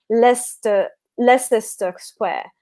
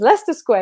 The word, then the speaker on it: Leicester Square: you probably pronounce it Leicester Square. There's an extra s in it when you write it, and so as a